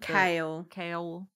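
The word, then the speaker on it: Chaol: Kale. I think it like kale, like the kind that the green stuff you eat, kale.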